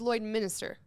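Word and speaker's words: Lloydminster: But Tyler says Lloyd Minister. Lloyd Minister. That's how it's spelled.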